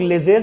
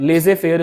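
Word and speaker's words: laissez-faire: जाएगा तो वो है इसको ना काफी लोग लेजेस बोलते है द प्रोनंसिएशन इज लेजे ठीक है वो लास्ट में जो जड है ना वो साइलेंट है लेजे फेयर इसको बोलते हैं और फेयर भी नहीं है फेयर लेजे फेयर that is the correct प्र of pronunciation of this thing इसमें क्या है कि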